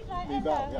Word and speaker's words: Mival: How would you pronounce it? Mival? Mival.